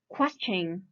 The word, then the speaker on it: question: chain question question question why because before ti-1 there is a magical letter s so if if there's a s in front of tion then the ti-1 will be pronounced as chin question expression this one